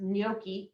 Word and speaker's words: NNOCCI: I'm in the middle of a 6-week virtual course called, it's a very long acronym, pronounced Gnocchi, N-N-O-C-C-I, which I'm gonna not get it right, but it's basically a national body for climate change interpreters.